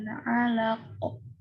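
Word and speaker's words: علق: Khalaqal insana min 'alaq. Khalaqal insana min 'alaq. Khalaqal insana min 'alaq. Pinter, bagus. Diperhatikan ya, kalau yang ada tanda komanya berarti ini huruf ain. 'Alaq.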